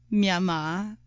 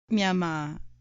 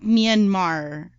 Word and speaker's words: Myanmar: talking about, ghosts from Myanmar. I just found out that that's how you pronounce it. Myanmar. Love it. Not Myanmar. Because the entire time we were taught that it was pronounced as Myanmar, right?